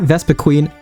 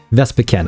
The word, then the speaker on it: Vespiquen: As the title states, we'll be going over Vespiquen EX, not Vespiquen, not Vespiquen, even though I say it later on this video. Vespiquen, I looked it up and that's the official pronunciation.